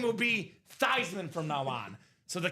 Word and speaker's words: Theismann: It's actually not pronounced Theismann anyway. Proper pronunciation is Theismann. So if you want to actually impress somebody, this man's name is not Theismann. It's not Theismann. It's not Theismann. It's Joe Theismann. Proper pronunciation of this legend right here.